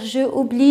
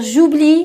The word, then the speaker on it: j'oublie: Alors, comme ça, on va dire j'oublie, bien sûr J apostrophe puisqu'on a deux voyelles, je ne vais pas dire je oublie, non, je vais dire j'oublie pour faciliter la prononciation.